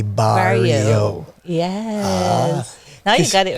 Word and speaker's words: Barrieau: Because without the I, it would have been Barrow. Yes, but with the I, Barrio. Yes. Now you got it right. Because E-A-U is pronounced O.